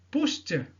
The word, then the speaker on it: pushed: Pushed, t, et non pas pushed, et non pas pushed. Donc le EDSI se prononce comme t.